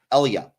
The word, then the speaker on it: Elia: Pernish, or Pershing, and then, of course, the character, the character that ends up manipulating him is called Ilia, I believe. Elia is how you say her name.